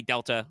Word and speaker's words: Delta: way it is pronounced Delta it's in like the the way Delta is used in mathematics for change over time um which makes me